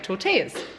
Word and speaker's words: tortillas: People say you don't pronounce the L, Ali. So tortillas, there we go.